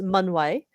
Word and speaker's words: Mun-Wai: a little bit sure so I'm going to pronounce my name again so my name is manway but you can also call me if